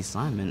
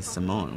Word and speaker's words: Simon: comm telling me that the pronunciation for Ricky Simon is not Ricky Simon it's Ricky Simone well my apologies Ricky